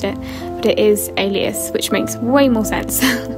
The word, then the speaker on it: Alias: novel but i did think that it was pronounced elias grace while i was reading it and for about two years that's how i pronounced it but it is alias which makes way more sense the weaker vessel